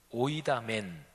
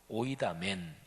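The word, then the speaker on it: οἴδαμεν: 18절, 19절, 20절 이 3절에 각각 우리는 압니다, 헬라어 원어로 발음을 하면 오이다멘, 딱 한 단어로 되어 있어요.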